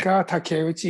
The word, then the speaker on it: Yutaka Takeuchi: Yutaka Takeuchi. Oh yeah, Am I Yutaka Takeuchi. Yes, you pronounce it Takeuchi?